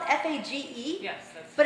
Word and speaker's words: Fage: So the brand that I recommend is called Fage. It's spelled F-A-G-E.